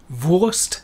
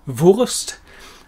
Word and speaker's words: Wurst: umlaut but but lazy the correct pronunciation for the word sausage is of course voist vost and then we have